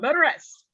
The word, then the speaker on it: Motoress: Is it Motress? Motor, like motor. Motor S. Yep. Motoress.